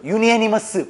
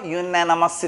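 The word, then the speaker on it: unanimous: 자, 얘는 원래 유니를 쓰려고 그런 건데 뒤에 A하고 모음이 겹쳐. 유니애니머스. 발음 안 좋지? 그래서 유나나머스 이렇게 하는 거야.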